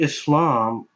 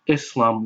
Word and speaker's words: Islam: Unfortunately, many people don't even know that Islam is more accurately pronounced Islam with an S sound rather than Islam with a Z sound.